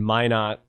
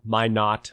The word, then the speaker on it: Minot: uh place in in minot which isn't far far from my not i say my net i guess because locals say it differently but i bought a